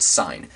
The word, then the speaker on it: sine: that's where this is a different sign pronounced the same as the word sign but it's a different